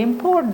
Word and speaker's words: import: Import. Okay, import. How it is used? This is in a noun's place. Okay, So the stress is on the first syllable.